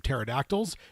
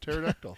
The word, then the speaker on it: pterodactyl: Punjas are the size of pterodactyls. Billy Bumblers fearlessly attack them without fail. Dude, I hope it's a lunja and the P is silent like pterodactyl.